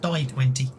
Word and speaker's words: d20: but apparently you know what you see in books D20 it was actually meant to be pronounced die 20.